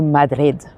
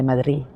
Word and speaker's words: Madrid: Welcome to Madrid or Madri. They don't really pronounce the D down here, so they often say Madrid.